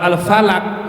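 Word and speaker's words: الفَلَك: Kalau al-falak itu artinya apa? Perputaran semesta ini namanya falak. Ada ilmu falak. Jadi bahasa Arab itu beda sedikit harokatnya, bacanya, maknanya beda.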